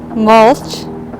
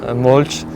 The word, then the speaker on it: mulch: comment ça s'écrit mulch et la prononciation native molch voilà molch et justement euh bah la prononciation quand vous en fait en vieil anglais ça c'est ça se disait molch et ça voulait dire ramoli moisi donc si vous voulez retenir molch ça ressemble au mot français moisi ou mou